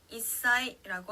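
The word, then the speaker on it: 一歳: 자, 단어로 살펴보면요, 한 살이라고 일본어로 말할 때는 이사이라고 하는데요. 자, 사행 앞에 즈가 왔기 때문에 사의 영향을 받아서 시옷 받침처럼 발음이 납니다.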